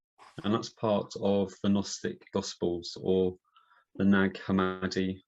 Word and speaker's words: Gnostic: Say Gnostic. Gnostic, yeah. I like to pronounce the G, so I remember it's there then when I'm spelling it.